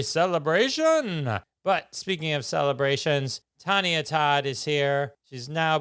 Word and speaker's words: Tonya: Your audience will understand the hesitation was the way you're talking about name pronunciation. Right, it's Tonya.